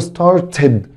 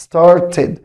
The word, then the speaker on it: started: شكل ما قلنا حبايبي ان في حرفين اتنين الاي دي فيهم بتنطق اد، في حرفين اتنين وراهم الاي دي بتنطق اد، حرف التي وحرف دي، فعشان كده هقول started started.